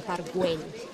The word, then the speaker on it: Park Güell: This is the way we pronounce it in both Spanish and Catalan, Park Güell. We spell it G-U-E-L-L, Park Güell. It's called like that because... There's a little bit of the L, almost just a bit of the L.